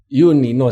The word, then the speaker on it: Yunino: Oke, ini berarti Yunino atau Junino? Yunino sebenarnya ejaan Yunino? lama. Saya lahir kan sebelum tahun 73. Jadi ejaannya kan masih Y, bacanya Y.